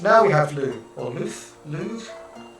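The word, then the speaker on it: Lugh: Okay, next, now we have Lu, or Luth, Lu. I think it's pronounced Lu, but it's L-U-G-H, right?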